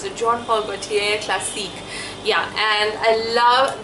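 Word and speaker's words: Jean Paul Gaultier: I think that's how we pronounce it, Jean Paul Gautier Classique.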